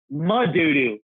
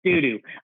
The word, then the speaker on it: Madudu: Madudu. Pronounce it properly. It's not pronounced doo-doo.